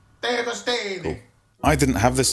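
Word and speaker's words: De Agostini: It's a Diagostini. Diagostini.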